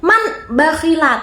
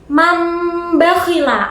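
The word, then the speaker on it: من بخل: Nah bacanya tuh tidak man bakhila tapi mambakhila. Antara non sama ba itu dengung.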